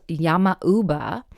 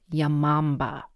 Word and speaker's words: Yama-uba: the Japanese mountain witch, who is called Yama-uba, and sometimes it's spelled or pronounced Yamamba.